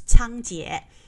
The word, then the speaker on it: Cangjie: method so tongkit and in english you will see c-a-n-g-j-i-e that is like the uh mandarin pronunciation which is chang jie okay chon ki well